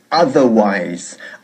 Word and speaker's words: otherwise: Bien, empezamos la tercera parte de nuestra clase de hoy, centrándonos en una sola palabra, y esa palabra es otherwise.